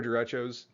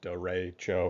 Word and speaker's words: derecho: So first off, what are derechos? You can see pronounced derecho or derecho.